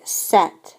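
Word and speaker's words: cet: pronounce two vowels together if we have a masculine singular noun that starts with a vowel then we're going to say set c e t so in terms of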